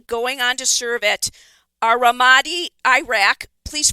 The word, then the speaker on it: Ramadi: So you enlisted in the Army, going on to serve at Ramadi, Iraq. Please pronounce that correctly for me.